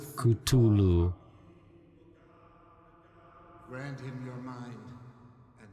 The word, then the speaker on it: Cthulhu: Cthulu. Hard T. Which is actually how I always pronounce it. I always thought it was a hard T, Cthulhu. Cthulhu.